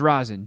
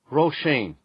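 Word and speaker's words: Róisín: all right now for the real answer roshane from the Latin name Rosa and means little Rose roshane did you say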